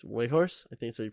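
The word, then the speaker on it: Weghorst: he's got 25 and fourth is wake horse i think it's way horse i think so you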